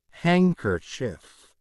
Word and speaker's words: handkerchief: Don't pronounce D in those words in English. Wednesday, sandwich, handsome, edge, bridge, handkerchief, badge, hedge, fridge, lodge.